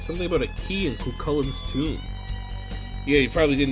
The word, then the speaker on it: Cuchulain: Something about a key in Cuchulain's tomb. Yeah, you probably didn't know I knew how to pronounce that, huh? That's how it is. Cuchulain.